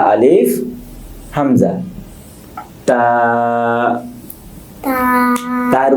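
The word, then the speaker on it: ت: জিহ্বার সামনের অংশ উপরের দাঁতের গোড়ার সাথে মিশে উচ্চারণ হবে।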